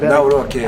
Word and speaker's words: Nawrocki: Yeah, Nawrocki.